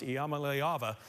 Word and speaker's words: Iamaleava: niika and uh the the correct way to pronounce my last name is mala all right you heard it there first let's pronounce Yama leava Nico number eight on